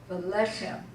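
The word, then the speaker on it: ולחם: And again, you have two segols, so the accent is on the first segol. Velechem.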